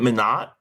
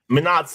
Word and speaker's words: Minot: Isn't it Minot? Real. I don't know how to say it. It is real. It is real. So London's human. She can't get them all. Minot's North Dakota.